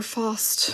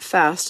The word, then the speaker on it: Fast: Jesper Fast from the Hurricanes. I'll never forget the day Brian told me, say it like you're British. It's not fast and it's not Faust. It's Fast.